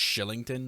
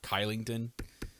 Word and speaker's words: Kylington: Or I think it's pronounced Shillington, not Kylington.